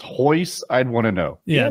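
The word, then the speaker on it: Royce: one his name is Hoist Gracie starts with an R but pronounced with an H for an extra half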